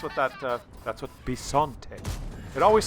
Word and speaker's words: Bisonte: this particular tank b-i-s-o-n-t-e now the letter i in italian is pronounced e for example the letter two letters ch together is pronounced k there is no k in italian uh but the letter i is pronounced e so this tank is called the b son the letter i is e it's also complicated no it's simple bisante that's what it's called which in italian